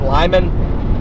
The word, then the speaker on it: Limon: Pronounced Lyman.